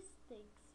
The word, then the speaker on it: BlueStacks: É Stacks que se escreve, mas se lê Stakes. Eu acho que é isso, né?